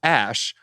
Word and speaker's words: Æ: there-- X Æ A-12 Æ is pronounced "ash," he told the controversial podcast host Joe Rogan. So X "ash" A-12.